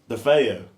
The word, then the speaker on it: DeFeo: DeFeo. That's how you say it.